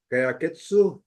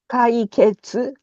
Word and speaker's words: Kaiketsu: Kaiketsu, is that correct pronunciation? Kaiketsu. Kaiketsu.